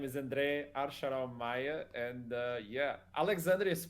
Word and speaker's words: Archarom: It's Archarom. In Portugal, we call it Archarom. There's a rolling on the R.